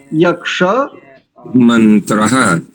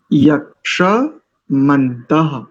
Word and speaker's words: यक्षमन्तः: और यद पूर्व ही ठीक था आपका, यक्षमन्तः, इसका उच्चारण कैसे करेंगे? यक्षमन्तः। बोलिए इस पूरे शब्द को एक बार उच्चारित कीजिए। यक्ष मंत्रः, नहीं, मंत्र नहीं, पहले सुनो, पहले पूरा सुनो ना ध्यान से।